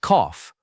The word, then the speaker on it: cough: It sounds like cough, rhyming with off.